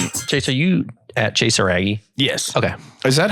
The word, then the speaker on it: Iraggi: That's not actually how you say it. It's like some... Iraggi. Like literally. Yeah. It's Iraggi. Yeah.